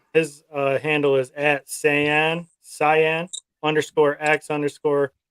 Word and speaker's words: Saiyan: uh handle is at Saiyan cyan underscore ax underscore 9 000 underscore toys he does a lot of great cyan I'm kidding how do I spell it uh s-a-i-y-a-n not c-y-a-n like the color I think it's something